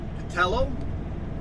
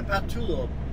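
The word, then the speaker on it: Pattullo: I've come to the conclusion it's pronounced two ways. Patello, this is the Patello Bridge, or the Patullo Bridge. Yes, Patello or Patullo.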